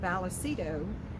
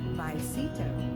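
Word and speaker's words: Vallecito: were pronouncing it incorrect we were pronouncing it balacito we found out the ls in the word are silent and it is actually pronounced myceto give me your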